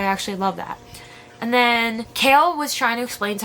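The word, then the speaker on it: Chaol: how it was pronounced I'm going to just call him kale cuz that's what it's said they were talking after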